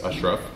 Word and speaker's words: Ashraf: It's actually pronounced more like the A's are U's, Ashraf.